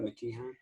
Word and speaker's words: McKeehan: did I pronounce that right? McKeehan?